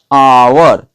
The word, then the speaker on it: hour: जैसे हम मान लेते हैं कि एक HOUR, ठीक है, एच क्या है, एक कॉन्सोनेंट है, लेकिन इसका जो आवर है ना, इसका प्रोनाउंसिएशन क्या हो रहा है, साउंड क्या निकल रही है, अ से निकल रही